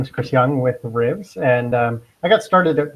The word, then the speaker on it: RIVS: RIVS.